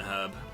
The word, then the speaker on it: herb: a kid that uh it's written and herb i never got it because obviously when i was a child i didn't know that americans pronounced things incorrectly um bloody americans